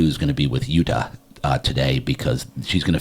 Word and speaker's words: Jutta: Did I pronounce it correctly? Sort of. Jutta. Jutta. Yes.